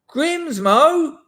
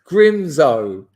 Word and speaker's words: Grimsmo: Grimsmo, that's not how you say it, is it? It's Grimzo.